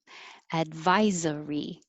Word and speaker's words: advisory: is uh number eight advisory that looks like an s but sounds like a z z advisory nine strategy